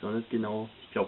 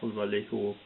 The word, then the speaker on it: Vallejo: I think Vallejo is spoken with a "ch".